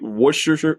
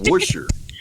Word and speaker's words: Worcestershire: I've heard it pronounced the way that we would read it, Worcestershire or whatever. It's supposedly just Worcestershire.